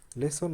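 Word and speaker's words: listen: তো এখানে দেখো লিসেন, LIS, লিস, TEN, টেন, কিন্তু এটার উচ্চারণ হবে লিসেন।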